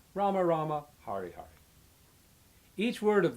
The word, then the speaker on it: Rama: Rama means the source of all enjoyment, and it's Rama, rhyming with drama.